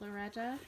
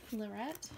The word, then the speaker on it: Lorette: it is the Lorette I think it's pronounced Lorette not Loretta Lorette um and this is